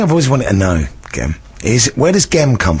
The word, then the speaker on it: Gem: always wanted to know gem is where does GEM come from and why is it pronounced with a hard G not a soft G because one would assume it's gem but it isn't is